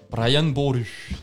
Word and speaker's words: Brian Boru: Brian Boru, c'est comme ça que ça se prononce. C'est sûr. Rouler les R.